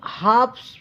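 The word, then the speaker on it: halves: अब देखिए हाफ्स पढ़ते हैं। एल साइलेंट होता है यहां पे गाइस। एल का उच्चारण नहीं होता है।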